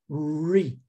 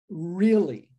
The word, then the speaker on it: really: É importante aqui, agora falando especificamente sobre pronúncia, que você pegue esse R e dê uma dobrada na língua, tá? Ó, really, really, ok?